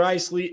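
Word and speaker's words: Icely: check out my man Tyler Eisley Ellison that's how you say it spell it is Tyler you know basic Tyler and then Eisley is i-c-e-l-y and then LSN just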